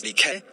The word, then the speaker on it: Dyke: A few years later, Nick attended a church conference in another country, finds herself in a serendipitous encounter with Dyke, pronounced as DK, whom she believes to be the answer to her prayers.